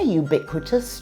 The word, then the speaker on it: ubiquitous: Yeah, they're ubiquitous too. Cheesesteaks are a Philly dish. Ubiquitous. Ubiquitous. So it starts with a y sound. And it has 4 syllables.